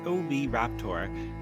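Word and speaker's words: Oviraptor: So, we've just introduced Momentosaurus, pronounced Ma Chisaurus, and Overaptor, pronounced OB Raptor, to the park, and the contrast between them is incredible.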